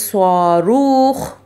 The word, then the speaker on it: صاروخ: Number one is swaruch. Swaruch, ha sound, okay, from your upper part of your throat you have to say, you have to pronounce ha sound.